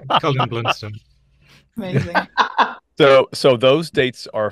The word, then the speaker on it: Colin Blunstone: Is it Colin Blunstone? Am I pronouncing his name correctly? Yes, or as Sharon's mum thought we said, Colin Flintstone. Yeah, no, Dear. Colin Blunstone.